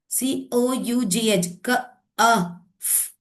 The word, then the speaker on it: cough: Cough. This gh is pronouncing as f. It's not pronouncing as j.